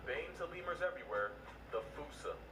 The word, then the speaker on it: fossa: to lemurs everywhere, the fossa. Although with its spelling, I'm pretty sure it's actually fossa, but the day I pronounce it like that is the day I lay my childhood to rest.